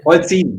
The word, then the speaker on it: Polzin: You You pronounce it right? Polzin, but that's That's all right.